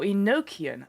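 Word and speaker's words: Enochian: B like the Bible now Eno or enoan I believe is pronunciation thank you Phoenix F enoan at least that's what I could recall Patrick Stewart saying the word well hey if Patrick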